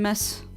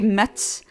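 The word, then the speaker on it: Metz: It was in in mess. I forgot. Sorry. That's at least my French friends. Uh they they hate it when I say Mets.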